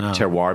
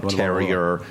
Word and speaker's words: Terroir: one a lot of people couldn't pronounce it Tero became terer Terror blah blah blah yeah